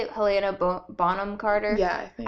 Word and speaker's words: Bonham Carter: Helena Bonham Carter? Yeah, I think. I always want to say Boham Carter. That I mean, it sounds French.